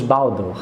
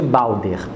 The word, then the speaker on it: Balder: a morte do Deus Baldo Baldo ou Balde depende da pronúncia tem gente chama de Baldo tem gente que chama de balder indefere tá é um